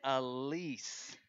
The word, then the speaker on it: Alyce: I got your name wrong earlier. It's Alyce.